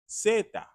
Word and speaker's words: zeta: The letter Z in Spanish is zeta. Zeta. Now notice, in English we say Z. Very, very deep, very profound. In Spanish, the letter Z or zeta sounds almost more like an S starts it, right?